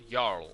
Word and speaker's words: Jarl: That's pronounced Y. Jarl. Yarl. Yes. Y.